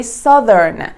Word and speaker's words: southern: You should say southern. The pronunciation is different from south.